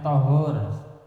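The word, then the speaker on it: طَهور: Kalau air itu tohur pakai fathah, tohur, tulisannya sama.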